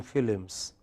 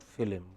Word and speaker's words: film: said I like watching films it is not film it is film okay similarly I am